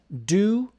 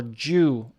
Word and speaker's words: due: on due diligence okay the pronunciation here of d u your choice do or jew on the british side of the atlantic it will be je like my name j du i mentioned